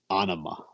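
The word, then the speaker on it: Ænima: So the song Third Eye so I was going to pronounce the album Anima, like anima, like something like that. That's what I thought. So there's a video that where Adam Jones calls it Anima.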